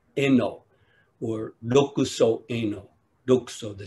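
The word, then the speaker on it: 慧能: In Japanese, his name is pronounced Eno, or Dokuso Eno, Dokuso, the sixth patriarch Eno.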